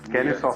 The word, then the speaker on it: Kennesaw: Khalil is a senior lecturer of English at, how do I pronounce, Kennesaw, is that right? Perfect, yeah. It's Kennesaw State University.